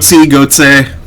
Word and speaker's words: goatse: I thought you pronounced the E at the end. You goatse.